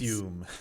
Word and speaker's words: Triseum: Trisium. The Triseum. Trisium. I like to pronounce it Like that way.